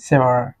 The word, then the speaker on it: sour: সো সেই টকের English হচ্ছে সেওয়ার, SOUR, সেওয়ার। আমরা একটু উচ্চারণটার দিকে একটু খেয়াল রাখবো, এটা হচ্ছে সেওয়ার।